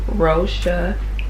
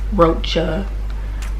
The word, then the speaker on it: Rosha: It's Rosha, in case anybody was wondering how to pronounce that. I've gotten Rocha, Roche, whatever. I got a bunch of craziness.